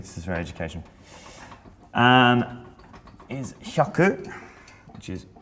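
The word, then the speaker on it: 百: Is hyaku, which is 1, 2, 4.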